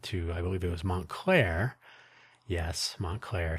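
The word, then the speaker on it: Montclair: I believe it was Montlair. Yes, Montlair. Spelled differently, but uh, you switch the two halves. Claremont, Montlair, two syllables, whichever order you care for.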